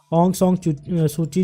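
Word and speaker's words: Aung San Suu Kyi: जैसे आप इसको प्रोनाउंस कर लें, क्योंकि मेरी प्रोनाउंसिएशन इस हिसाब से थोड़ी सी बैड है। ऑंग सॉन्ग सूची जो है ये करंट स्टेट काउंसलर है किसकी, म्यांमार की।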